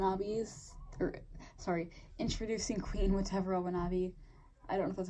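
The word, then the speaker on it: Watevra Wa'Nabi: you say it but it's supposed to be like a sleeve of different for a different version of the words whatever I want to be whatever I want to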